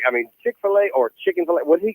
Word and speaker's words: Chick-fil-A: now you know if chicken fillet was running the uh the whole chicken fillet you have to say it right chick-fil-a if they were running